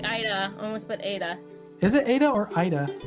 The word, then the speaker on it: Ada: little easier to announce ada it's almost like it's like ida oh it's like ida almost but ada is it ada or